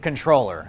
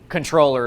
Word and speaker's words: comptroller: now first of all it's spelled comptroller but you pronounce it controller I think it's got